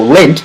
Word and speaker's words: Lindt: So Lindt has a silent T.